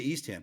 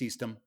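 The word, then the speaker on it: Eastham: ham and I'm like how do you say East Ham because obviously East Ham is East ham and he's like it's eastm it is not eastem I don't know where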